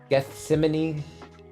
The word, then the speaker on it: Gethsemane: Gethsemane. Yeah, that's how you pronounce it.